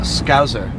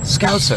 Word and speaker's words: Scouser: A scouser. Yeah. You say it like Z. Scouser. Not scouser. Scouser. There you go. There you go. No Z? No Z.